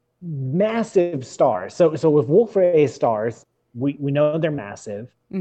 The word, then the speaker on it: Wolf-Rayet: I'm not saying the T. I was shaking my head at something else. It was totally right. Unrelated and 100% coincidental totally buying that. To your pronunciation of Wolf-Rayet.